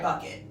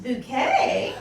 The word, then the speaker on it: Bucket: made a joke where it's like who would pronounce it because she spells it all the time and it's spelled b-u-c-k-e yeah yeah but i just remember in the pilot him being like it was always pronounced bucket before i married you let's just say um